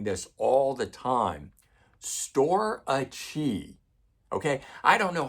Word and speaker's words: Storace: Storace. Okay, I don't know how else you guys want me to say it. I'm phonetically pronouncing it as best I can when you guys spell it out to me.